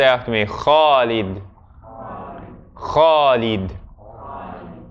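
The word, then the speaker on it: خالد: Now I'm not saying that everyone who has the name Khalid and says it Alid, Khalid, is like they're pronouncing their name wrong. It's their personal name. They figure out how to pronounce it themselves.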